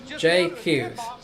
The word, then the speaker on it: Hughes: Oh, Thomas said, just FYI, my last name is J. Hughes? J. Hughes, not the French pronunciation. J. Hughes.